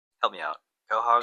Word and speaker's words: Quahog: Quahog? Help me out. Quahog? Quahog.